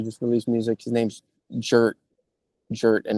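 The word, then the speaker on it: Jurt: His name's Jer. Jer and it's pronounced like Jer.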